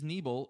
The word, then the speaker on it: Neble: don't no that's fine my last name is neble and I've made my my Wi-Fi name like the knee and my leg and a bow so it's not spelled the same but it sounds the same so you know what's